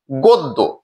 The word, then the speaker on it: গদ্য: তারপরে জ ফালা আছে দ এর সাথে জ ফলা আছে যার ফলে অকারটি ও এর মত উচ্চারণ হয়েছে গদ্য সঠিক উচ্চারণটি গদ্য প্রিয় শিক্ষার্থীরা আমরা সর্বশেষ